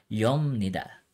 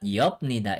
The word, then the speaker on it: 엽니다: Okay, it's yolda, it's yomnida. And take note din sa pronunciation ng nito, it's not yopnida, it's yomnida. Okay, remember, pag piyup, followed by niyan, ang nagiging sound niya ay miyo.